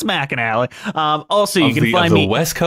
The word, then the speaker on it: McAnally: It's spelled McAnally, just so you know. I know what it looks like. It's McAnally.